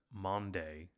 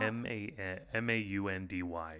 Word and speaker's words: Maundy: So for Holy Thursday, also known as Maundy Thursday. How do you say it? It's not Maundy. So it's Maundy. Maundy. Like a Monday to Thursday job.